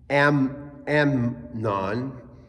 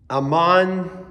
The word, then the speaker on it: Amon: Amnon. Amon, that's how you say it, the father of Josiah.